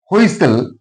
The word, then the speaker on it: whistle: Whistle, T is silent here.